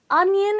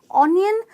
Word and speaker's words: onion: But don't let the pronunciation make you cry. It's onion and not onion.